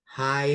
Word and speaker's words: high: Kemudian ada junior high school atau secondary school. Artinya adalah SMP. Ini bacanya high ya, jadi GH-nya nggak usah dibaca. Bukan high gitu, bukan. Tapi high.